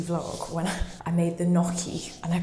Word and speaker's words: gnocchi: If you watched the last weekly vlog when I made the gnocchi and I pronounced it gnocchi, thank you so much for letting me know that there is a silent G in that, because that's the first time I knew that.